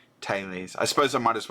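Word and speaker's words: Thales: second I'm back so the correct pronunciation is taes Tes I suppose I might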